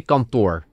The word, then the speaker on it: kantoor: Then, office. Kantoor. And we say kantoor. It's one more O.